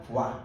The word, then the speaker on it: Foy: I already messed up, is it F-O-Y? Sainte Foy (pronounced FWAH) Fwah.